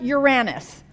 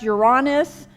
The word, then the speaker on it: Uranus: then this next one when I'm talking to kids I pronounce it Uranus okay and I've heard a pronounced you're honest and of course Uranus we've we've gone back and forth this is the only